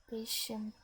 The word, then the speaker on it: beetje: I was not sure how to pronounce this TJ part. ch. Beetje. Yeah. Is the T like silent or something? No, it's Or- not really okay. silent. It's like ch.